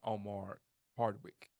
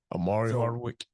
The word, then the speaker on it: Omari Hardwick: a Denzel Washington and Omar Hardwick that's how you say his name Omari Hardwick yeah that's what I